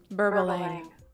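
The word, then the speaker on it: Berbalang: Let's just confirm the pronunciation was correct. Burbalang.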